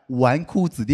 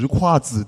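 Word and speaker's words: 纨绔子弟: It took me three years to figure out that the word "wanku zidi" is not pronounced as "zhiku zidi", did you know that?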